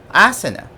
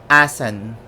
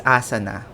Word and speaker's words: asana: of india would mention asan with we are used to saying it as asana or asana the pronunciation of asan is like that a silent a and stress on the letter n and so that's asan